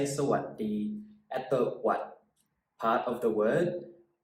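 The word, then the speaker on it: สวัสดี: So I put the T in there, so hopefully when you read it, you can kind of sound it out, and then it would sound like sawadee, sawadee.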